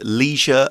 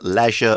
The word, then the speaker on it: leisure: a quick note about that word Leisure Leisure both pronunciations are okay Leisure is more common in British English I think so if